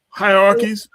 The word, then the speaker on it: hierarchies: How you say that word? I know how to spell it. HIER. Hierarchies. Yes, hierarchies.